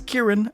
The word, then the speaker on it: Ciaran: Apparently the correct way to pronounce his name is Ciaran according to him, but I think Ciaran sounds cooler.